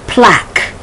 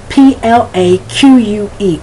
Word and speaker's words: plaque: sound is just the hard K, such as plaque, P-L-A-Q-U-E, plaque.